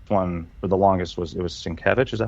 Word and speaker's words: Sienkiewicz: The way that the main artist for this one for the longest was Sienkiewicz.